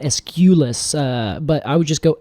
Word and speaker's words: Aesculus: Is it Aesculus? I would just do Aesculus. Aesculus. Yes, I wouldn't put so much emphasis on the U. I see. And not Aesculus.